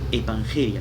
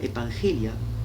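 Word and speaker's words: ἐπαγγελία: Evangelia se escribe E-P-A-N-G-E-L-I-A, evangelia.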